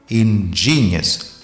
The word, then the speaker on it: ingenious: Itinerant scientist, cylinder of steel, ingenious experiment, ingenious, stress G, ingenious experiment.